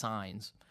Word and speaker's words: Saenz: I always thought it was pronounced Saenz, but then whenever I talked to people in Great Plains Annual Conference, they said it's pronounced Saenz.